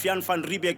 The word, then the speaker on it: Jan van Riebeeck: things I can vividly see the arrival of Jan van riebeeck in 1652 like eight minutes to five o'clock